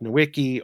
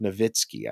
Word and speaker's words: Nowicki: Michael Greer, Dolores Ashcroft Nowicki, all of these folks, I don't think that's actually how you say her name. Ashcroft Nowitzki, I think is it.